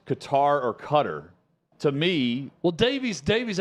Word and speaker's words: Qatar: relative that lives in Cutter and they're pronouncing it in Arabic and it's a accent that I cannot pronoun but but it sounds like cut the emphasis is on cutter they're saying like qarar I'm not I'm not